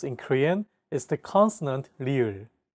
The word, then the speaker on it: 리을: This consonant is often romanized as an R or an L, but there isn't an equivalent sound in English. 라마. This sound is actually somewhere between an L and an R sound.